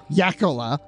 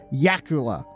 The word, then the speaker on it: Jacola: from the Edge with Brandy Jacola, or Jacula, whatever she wants to pronounce it as, which I also learned. Yacola. Yeah, that's the correct pronunciation, people. Yakula. Just telling you, she confirmed that on the show.